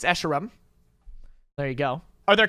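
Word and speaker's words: Escharum: to play halo infinite campaign how do you pronounce esheram it's esheram there you go are there kill barriers or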